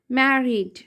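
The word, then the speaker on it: married: ऐसा रूल होता है मैर मैर ईडी का सॉरी आई ई का ए डी का ड मैरिड सॉरी ए नहीं आएगा मैरिड मतलब के ई आएगा साउंड यहां पर मैट अ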